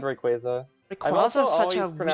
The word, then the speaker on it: Rayquaza: a face but yes it's based on a quasar but Rayquaza is something like I grew up hearing so much and it's like yeah I've always said Rayquaza I'm also such a